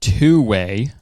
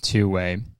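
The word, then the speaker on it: 2wai: So there's a company called Two Way, which is spelled two, like the number 2, WAI, Two Way.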